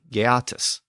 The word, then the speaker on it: Geatas: In the original text, the name was spelled Geatas, so the pronunciation was probably Geatus.